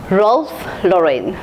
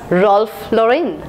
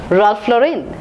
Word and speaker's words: Ralph Lauren: woman the next word in the list is role Lauren it should be pronounced as Ralph Lauren Ralph Lauren Ralph Lauren is a luxury brand the next